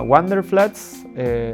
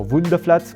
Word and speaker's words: Wunderflats: y encontré una página que se llama Wonderflats o Wunderflats pronunciado en alemán, que ofrecen departamentos temporarios